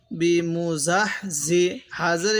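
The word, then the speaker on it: بِمُزَحْزِحِهِ: এই হাটা উচ্চারণের সময় মুখ দিয়ে হালকা বাতাস বের করব, এই হাটা উচ্চারণের সময় মুখ দিয়ে হালকা আওয়াজ বের করব। তাহলে বিমুজাহজিহি, তাহলে বিমুজাহজিহি এরকম ভাবে পড়ব।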